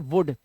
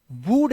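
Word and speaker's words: wood: कुछ तो झेलना पड़ेगा इसे छोटे उ की मात्रा से पढ़ते हैं इसे पढ़ते हैं वुड वूड नहीं पढ़ते तो ये अपवाद है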